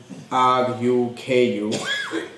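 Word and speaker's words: ركوع: The word in Arabic would be pronounced as ruku'. It has a waw, sakin, which has a jazm, and also at the end it has an ayn. So it'd be ruku' with an ayn at the end.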